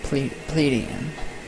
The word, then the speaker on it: Pleiadian: I don't know how to pronounce that word. Pleiadian? Pleiadian? Pleiadian? Yes, Pleiadian.